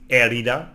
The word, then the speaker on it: herida: No, be careful because in the H sound in Spanish it's silent, so it's herida or herido.